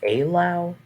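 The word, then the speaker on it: Eylau: minute look at that that's pronounced a loud oh never mind i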